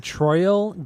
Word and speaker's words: Troyal: no he was oh dude he was born troyal G Brooks so his first name is spelled t r o y a l tro